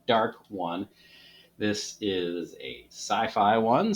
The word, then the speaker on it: DARC-1: This is an Estes model, the DARC-1, which I assume is probably supposed to be pronounced dark, so dark 1.